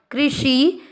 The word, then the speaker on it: कृषि: क्री का मतलब हुआ क आधा और नीचे री से ऋषि की मात्रा की आर आए। कृषि ग पर औ की मात्रा गौ।